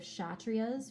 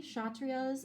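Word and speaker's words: Kshatriya: um but know that when you pronounce it the k is silent we have the vaishas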